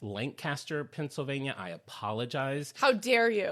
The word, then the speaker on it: Lancaster: I was saying Lancaster, Pennsylvania. Apparently, it's Lancaster, Pennsylvania.